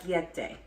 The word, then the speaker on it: orecchiette: a wreck yet eh I looked up how to pronounce it so challenge me on that if you want but I literally typed in Google how do you pronounce where is it all right yet day that's how it is broken down on the